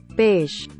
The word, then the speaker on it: beige: I don't know, YouTube auto-caption thinks I said beige a lot of times, so I googled and apparently it's beige.